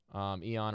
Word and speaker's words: Aeon: Eon or Aeon and off, depending on where you're from in the world. In Japan, they pronounce Aeon as Eon, but takes 25 turns, 80 gold, 80 dust.